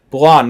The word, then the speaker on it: Blanc: Blonde, not Blanc. The C is silent.